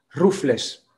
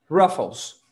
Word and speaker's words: Ruffles: de manera muy fuerte así que en español la pronuncian ruffles las papas ruffles pero la pronuncia originales ráfols ráfols acá en brasil así